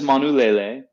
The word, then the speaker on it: Manulele: um and go from there so that is manulele for those following at home it's spelled m-a-n-u-l-e-l-e and the the iteration that we're trying today was harvested in july of 2019.